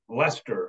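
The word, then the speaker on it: Leicester: looks like leyer Massachusetts they pronounce it leester up there and it's outside of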